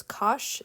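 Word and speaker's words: cosh: and the hyperbolic cosine some will pronounce this as kosh and singe i'm not a fan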